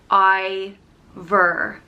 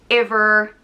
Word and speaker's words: Iobhar: i o b h a r and it's pronounced i ver either it can also have a fada an accent over the eye which would change the pronunciation to ever either um it can also be pronounced ever or other and there's four different provinces in